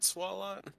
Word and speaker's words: Swalot: I think it's pronounced. Swallow. Yeah. Is it Swalot?